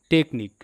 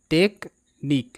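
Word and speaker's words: technique: সি এইচ এন আই টেকনিক এখানে ভেঙ্গে নিয়ে পড়তে হবে টিই সি এইচ টেক এখানে সিএইচ ক হিসেবে উচ্চারিত পরে এন আই সি নিক টেকনিক টেকনিক শব্দের অর্থ কৌশল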